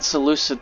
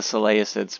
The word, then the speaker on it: Seleucid: And yes, I said Seleucid the right way. I always called them the Seleucids, but you know, because I can't read.